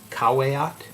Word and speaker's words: caveat: a little caveat here or for those who pronounce it in a more latin way kawayat nothing that i have